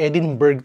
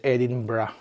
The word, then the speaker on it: Edinburgh: Actually Edinburg talaga. Edinburg yung pagkakaalam ko sa lugar sa lugar na yun. Pero ang pronunciation pala nila dito is Edinbrah.